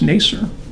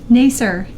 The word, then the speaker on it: Nasir: a sir and now you know how to pronounce nay sir nay sir nay sir she says it the same way so that's good for both of us you get it - from there it's probably about 20 people in the entire world who pronounce this name that way it's probably 20 people who say it right yes so thank you